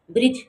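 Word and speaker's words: bridge: ब्रिज बी आर आई डी जी ई ब्रिज। ब्रिज में D silent है।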